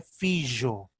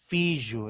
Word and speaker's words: fijo: E no castelhano antigo, estamos a falar do castelhano medieval, existia fijo, fijo, essa J ali ainda não era pronunciada como a J moderna.